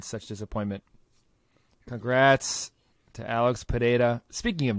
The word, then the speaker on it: Pereira: John Anik be like, hey, guys that keep saying Pereira 100 times, his name is Pereira. Just say Pereira.